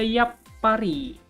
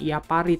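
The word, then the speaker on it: やっぱり: snake kita skip dulu ada juga Yap pari japari Yap pari bukan ia pari tapi yappari Nah di sini juga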